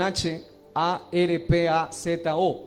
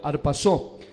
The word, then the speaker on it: harpazo: Ahora, el término bíblico para el arrebatamiento es un término que algunos dicen que se pronuncia harpazo, o se escribe con H, A-R-P-A-Z-O, harpazo.